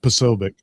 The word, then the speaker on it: Posobiec: I don't know how you pronounce his name. Posobiec. Yeah, it's Posobiec.